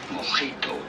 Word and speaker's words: mojito: How do you go about pronouncing it in Spanish? Mojito.